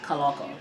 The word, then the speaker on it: Kaloko: It's pronounced just like how it's spelled. I mean, some people pronounce it Kaloko, but it's normally pronounced Kaloko.